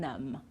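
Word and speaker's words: numb: of these words climb we don't pronounce the b at the end crum lam and num okay so no b at the end we don't sound it at all okay now tricky consonants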